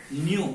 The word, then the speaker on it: nu: Nu, we have to pronounce this as nu, is equal to x by y dy by dx.